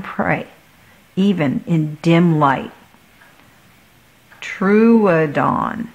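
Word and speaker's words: Troodon: even in dim light true dawn Oh see it's going to help me with the pronunciation good truadon I am a dinosaur ready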